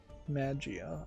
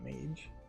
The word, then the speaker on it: Magia: For Magia, I imagine is how it's pronounced, not Mage.